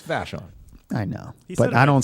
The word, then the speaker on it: Vashon: Yeah, it's Vashon.